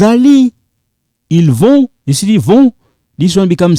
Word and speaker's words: vont: This one is silent. Vous allez. Ils vont. You see, vont.